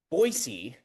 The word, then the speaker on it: Boise: Boisey is apparently how it's pronounced.